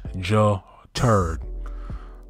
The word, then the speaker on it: Jared: My name is pronounced Ja-Turd. Okay, Ja-Turd.